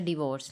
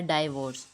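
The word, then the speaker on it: divorce: में बोला जाता है डिवोर्स लेकिन हमारे यहां बोला जाता है डाइवोर्स क्योंकि इसकी स्पेलिंग डी आई होते हैं इस वजह से हम लोग इसे डाइवोर्स कर देते हैं बट करेक्ट प्रोनंसिएशन है डिवोर्स रि वर्ड्स यह थी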